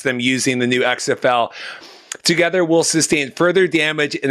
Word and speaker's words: TOGETHXR: earlier that it's called together that's how you pronounce it like to get her because it's like t